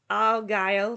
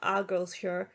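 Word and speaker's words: Argyll: Argyle, not Argyleshire. It's Argyleshire. Okay? It's not Argyleshire. It's Argyle. Ugh!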